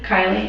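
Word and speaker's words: Kiley: Kylie. How are you spelling Kylie? How do you spell it?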